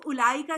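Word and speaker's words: أولئك: अभी जो मैंने आपको उलाईका की भी एग्जांपल दी है। आप उलाई का तो नहीं पढ़ते हैं ना। उलाई का पढ़ते हैं। वाव एक्चुअली साइलेंट होती है। आप वाऊ ड्रॉप करते हैं।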